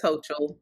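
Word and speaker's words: Hochul: know why I because when people say it they say Hogle I thought well maybe it's h he time name no it's hoel but we just not saying it right um anyway so this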